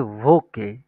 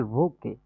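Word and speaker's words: Woche: আমরা যেটাকে বলি সপ্তাহ বা উইক সেটা হচ্ছে ভোকে এটার উচ্চারণ হবে কি ভোকে ডি ভোকে এটা হচ্ছে ডি ভোকে যেটাকে আমরা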